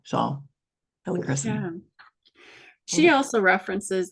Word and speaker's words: helichrysum: How do you say it, Lisa? I say helichrysum, but yes, I've heard it the other way as well. So helichrysum.